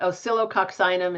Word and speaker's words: Oscillococcinum: Oscillo, but Oscillococcinum is how to pronounce it completely.